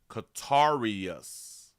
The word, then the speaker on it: Katorius: Katorius. Katorius? In the beginning, they said it as if it was a female name, or, yeah, a girl name.